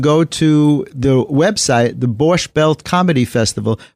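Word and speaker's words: borscht: to the website the borch belt Comedy Festival borch is spelled b o r s c HT borch belt Comedy Festival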